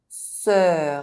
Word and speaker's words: sœur: silent consonant: nœud knot It is pronounced [œ] if followed by a pronounced consonant: sœur sister OI is pronounced :